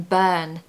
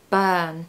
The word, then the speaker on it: burn: the r um in burn so it's actually a really long sound burn it's the same sound as in girl shirt world work we need this uh